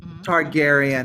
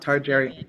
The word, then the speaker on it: Targaryen: And it's Targaryen. Targaryen, not Targaryen.